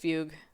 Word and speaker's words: Fugue: way Fugu I don't even know how to pronounce that we're going to listen to it it's just Fugue Fugue in Psychiatry it's a state or period